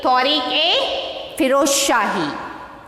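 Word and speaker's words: Tarikh-i-Firoz Shahi: So how to pronounce this? Tujhke Jahangiri. Okay. So next, Tariq Firoz Shahi. So next you see here, Tariq A Firoz Shahi.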